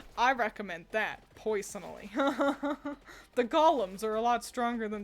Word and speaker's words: golem: recommend that poison the Golems are a lot stronger than the little skele guys were is it golum or Golem Golem they're Golems that's how you pronounce it the Golems are